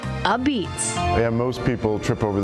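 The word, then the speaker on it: apizza: They think it's a pizza because that's the way it's spelled, but it's actually pronounced a beats. That's the Italian slang that's developed over the years in New Haven.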